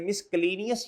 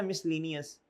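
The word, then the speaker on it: miscellaneous: मिसलनियस या मिसलेनियस? मिसलेनियस। ये silent है सी।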